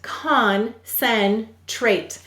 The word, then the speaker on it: concentrate: The C is saying S. Why? Why is it saying its second sound? C always softens to S before an E, I, or Y. And then why do we have a silent E in concentrate? The vowel said its long sound because of the E.